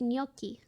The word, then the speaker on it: gnocchi: the one year louie thanks for subbing it's pronounced gnocchi that's oh my god i wish it was